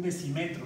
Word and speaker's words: decímetro: En español digo un decímetro, le pongo acento en la E. Le pongo la tilde para enfatizar que debo la vocal fuerte, es la I.